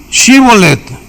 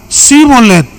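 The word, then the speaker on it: shibboleth: le decían ahora ahora pues sí chibolet Y él decía simonet porque no podía pronunciarlo correctamente Entonces le echaban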